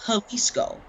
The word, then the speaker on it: Jalisco: in the state of jalisco which it starts with a j but it's pronounced with an h you know mexico right